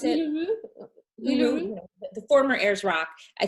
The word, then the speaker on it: Uluru: we didn't end up going to, is it Uluru? Is it pronounce it? Uluru.